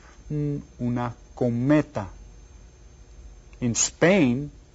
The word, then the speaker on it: cometa: Una cometa. How many syllables? Did you get it? Hay 3. And which one is stressed? Did you get it? The second one.